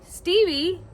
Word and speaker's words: Stevie: From Stevie Lynn, pronounced like Stevie Nicks and her family.